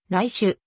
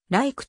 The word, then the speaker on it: Reich: 自演を行ったなお日本国内ではドイツ語式に第 1 表記されるが本国アメリカ合衆国では一般的にライシュまたは like と発音される主事のインタビューやコンサート遠くにおいて本人は来種と発音しているただし最近の tb